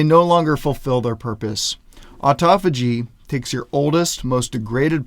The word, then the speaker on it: autophagy: have heard it pronounced autophagy or autophagy it's pronounced autophagy and it literally just means self-eating or self-digesting